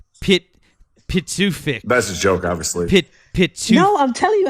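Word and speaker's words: Pituffik: Pitufik. No, I'm telling you how to pronounce it, Matt.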